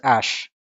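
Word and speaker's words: æ: It is pronounced as Ash, like Elon Musk's name of his child.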